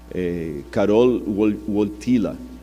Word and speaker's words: Karol Wojtyła: E o Karol Wojtyła, esses dias eu pedi a alguém que fala polonês para me corrigir a pronúncia, Karol Wojtyła, que era o nome do Papa, ele sofreu